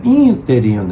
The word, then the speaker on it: interino: A palavra é interino, é uma proparoxítona, por isso, inclusive, leva acento no ino, porque toda palavra proparoxítona é acentuada.